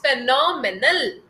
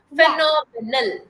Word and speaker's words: phenomenal: your Tong got your tongue got Twisted that's phenomal that's phenomenal menal that's phenomenal yes this is the right pronunciation phenomenal phenomenal okay yes so from next time onwards